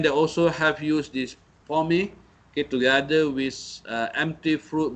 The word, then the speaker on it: POME: So Sime Darby have introduced what they call how they pronounce it, but it is POME, okay, POME, palm oil meal effluence, okay, the treatment, this form, okay, has been used.